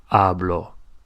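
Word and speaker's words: hablo: it's I do something try to stress the second from last part of the word the second from last syllable so I eat is Comm to speak is I speak is ablo ablo so if you want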